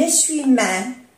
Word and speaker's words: essuie-main: Un essuie-main. Una toalla. Un essuie. Hacemos la unión, ¿eh? Un essuie-main. Essuie-main. Un essuie-main. No se pronuncia la E.